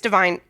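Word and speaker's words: DeVine: Um, so, uh, I've I do kind of like I was probably thinking of Adam Lavine. Adam Lavine from Maroon 5. Yeah. Yeah. Yeah. No. And it made me pronounce it weird as Adam Deavine.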